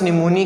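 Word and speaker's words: pneumoniae: इसको आप Streptococcus निमोनिया ही नहीं पढ़ते बल्कि स्ट्रेप्टोकोकस निमोनी पढ़ते हैं, ये याद रखने, इसकी प्रोनाउंसिएशन भी।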